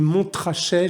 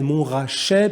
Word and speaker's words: Montrachet: morceau du chassagne montrachet alors je sais qu'une fois dans une émission que j'ai dit mon trajet je me suis fait reprendre par de nombreux commentaires donc j'en profite pour corriger ma prononciation morceau chassagne montrachet puligny montrachet cela on